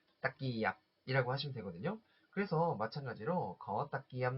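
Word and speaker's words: ตะเกียบ: 젓가락은 두 음절로 발음하시면 돼요. 이렇게 딱끼얍, 딱끼얍이라고 하시면 되거든요.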